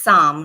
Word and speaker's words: Saam: Yeah, well, it's Saam, right? Saam, am I saying it correctly? Yes. Okay. Yes, that's correct.